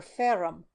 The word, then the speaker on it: ferrum: "Fe, that's short for ferrum, iron." Tammy pronounced the Latin word with a strong burr of the R's.